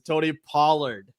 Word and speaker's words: Tony Pollard: I thought you got over it, but no, you actually said it wrong again. It is Tony Pollard.